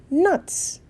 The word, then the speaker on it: knots: not cannot know nuts the K is silent again at the bottom of this rock can you see the picture okay this guy is doing something with the strands they tied it into nuts nuts tie into nuts